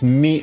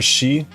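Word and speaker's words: 巳: It's pronounced mi or shi, but this is the kanji.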